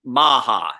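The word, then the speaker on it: Maher: It's pronounced Maha, M-A-H-E-R, Mark Maha. Mm-hmm.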